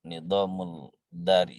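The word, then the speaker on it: an-Nizam al-Idari: Berikutnya adalah mungkin cara bacanya yang lebih tepat, nidamul dari, nidamul mali, nidamul harbi, nidamul asyasi, gitu ya.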